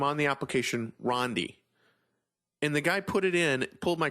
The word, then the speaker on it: Rondi: My name is Rondi, R-O-N-D-I, not Randy, not Rondi with a Y, not Rondi with an H, not Rodney, Ronnie D, it's Rondi, R-O-N-D-I.